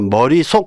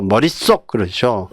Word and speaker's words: 머릿속: 자, 우리가 머리속 그러나요? 그러지 않죠. 머릿속 그러죠. 그러니까 사이 시옷 발음이 납니다.